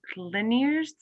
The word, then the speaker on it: Liniers: I think Liniers, if I'm pronouncing your name correctly, was next. Yes, hi. It's fine. Liniers is fine.